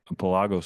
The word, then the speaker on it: Pelagos: I mean, the the the man the artist behind Pelago's Fly Rods. Am I even pronouncing that right? Yeah, you are. I mean, you know, it's a Latin word.